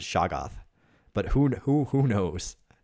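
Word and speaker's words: shoggoth: sure who this is a saga or shoghoth i've always pronounced it shaggoth but who who who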